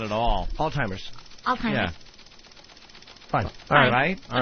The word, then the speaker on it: Alzheimer's: Alzheimer's. You're right. You're actually right. He's wrong. Right. He actually pronounces the Z just because of the Z in the word.